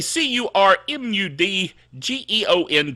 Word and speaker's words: curmudgeon: are you going to say by the way c-u-r-m-u-d-g-e-o-n curmudgeon for those of you that don't know how to print it spell it pronounce it or spell it or say